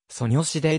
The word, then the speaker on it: 소녀시대: 込められており韓国でソニョシデ 0 と発音されるため素子と略さ